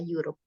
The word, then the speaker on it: Europe: He has not finished cycling through Europe ya, Europe. Jadi ini bacanya pakai y gitu.